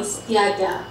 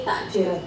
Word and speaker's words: takde: Tiada. That's the formal Malay pronunciation. Informal one is tiada. But then for speaking, we just say takde. So, tidak plus ada, tiada or tiada and then become takde.